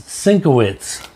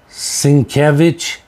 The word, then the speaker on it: Sienkiewicz: And this one, this I always pronounce this Sinkowitz cover, but people are pronouncing them Sienkiewicz, and so I don't know how to pronounce.